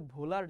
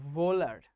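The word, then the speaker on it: Wöhler: ভোলার, ওনার নামটা কিন্তু ভোলার না। আবার অনেক বইতে লেখা আছে হোলার, ওনার নামটা হোলারও না। সবাই আমার সাথে সাথে উচ্চারণ করো, ওনার নাম হচ্ছে ভোলার। হ এবং ভ এর মাঝামাঝি কিছু একটা, ফ্রেডরিক ভোলার।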